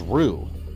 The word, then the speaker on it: Ryu: we know Ryu which technically the correct pronunciation name was rue who knew that in